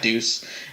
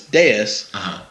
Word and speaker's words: Deus: pronounce that game because they said Deuce, and I told them it was Deus. And like, no, it's spelled like Deuce. But it's not. But it's not, because Deuce is Deuce.